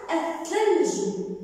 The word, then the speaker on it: الثلج: الآن الثلج الثلج أحسنتم بعد الأل أتى حرف مشكل إذا نام شمسية تكتب ولا تلفظ إذا بعد الأل أتى حرف مشدد لام شمسية تكتب ولا تلفظ.